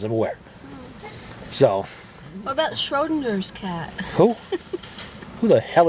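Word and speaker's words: Schrödinger: Like Schroeder. Schrodinger, like rodent.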